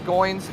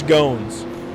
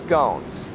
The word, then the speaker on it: Goins: and 14th position overall Chris Goins or excuse me I believe I mispronounced that one I know Chris gones thank you Andrew Chris gones I'm gonna try to